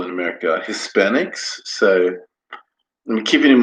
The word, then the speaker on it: Hispanic: So, in America, they say Hispanic, they pronounce the H.